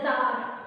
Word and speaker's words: Tsar: It is said that the Russian Empire ruled by the dynastical kings known as the Tsar, T-S-A-R, T is silent there, and Nicholas I, Nicholas